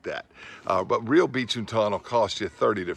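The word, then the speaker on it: binchōtan: I think it's pronounced Binchō-tan. Bean like Binchō-tan.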